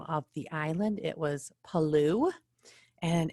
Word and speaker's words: Palau: the island it was palou and it looks like palau and i've actually heard people say that so it's according to this article it's palou but i've also heard people say hello so paloo is an island country